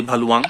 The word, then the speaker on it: Bhaluwang: यहाँ से आप जा सकते हो सीधे भालुवांग। वांग का जो प्रोनाउंसिएशन है आप मैप में डालोगे, BHALUWANG, भालुवांग।